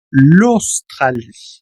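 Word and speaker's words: l'Australie: En este caso pegas la l con la au u que se pronuncia como una o. Lostral.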